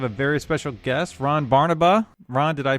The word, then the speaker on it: Barnaba: Today we have a very special guest, Ron Barnaba. Ron, did I pronounce that correctly?